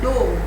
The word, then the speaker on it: dough: It is called dough. What it is called? Dough. So you can see the sound of GH is also silent here.